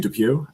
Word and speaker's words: Depwe: No, I won't hold it against you cuz I don't think anyone has ever got it on the first try, but it's actually Depuy. Um It's Depuy?